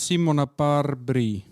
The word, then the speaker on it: Simona Barbry: um great thank you um your name is simon apar brie yes and that's how you pronounce it i saw i found you actually